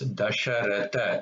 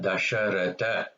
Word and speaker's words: Dasharatha: Third da is dasharatha. This is not a Mahaprana, dasharatha.